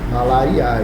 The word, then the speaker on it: malariae: Está aí malariae, mas pronuncia-se, está escrito malariae, né? Mas pronuncia-se malariae, bom?